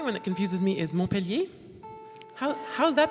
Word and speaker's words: Montpelier: The other one that confuses me is Montpellier. How's that pronounced? Montpelier.